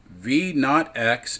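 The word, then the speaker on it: v₀x: term is initial velocity V naught X is the way that's pronounced or V naught Y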